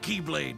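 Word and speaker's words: χ-blade: yeah he means the x-blade it's just pronounced like keyblade even yes just one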